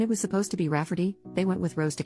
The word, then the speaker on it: Rayfarty: name my niece Rayfarty, pronounced Rafferty, not at all like Rayfarty.